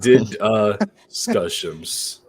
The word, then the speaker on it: DDiscussioMs: you have problems yourself but here is the pronunciation it is did uh skill issue no it says scuss but did uh scuss that is how you say it these four